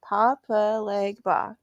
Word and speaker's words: Papa Legba: Normally I can pronounce that. Papa Legba.